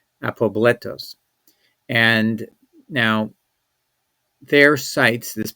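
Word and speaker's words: ἀπόβλητος: So the word is pronounced apobletos, Apobletos in English, apobletos.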